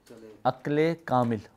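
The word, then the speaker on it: عقل كامل: You pronounce it Aql Kamil or Aql Tam.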